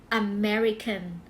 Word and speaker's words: American: นะ คะ ก็ คือ American American ไม่ ใช่ อเมริกัน นะ American American นะ คะ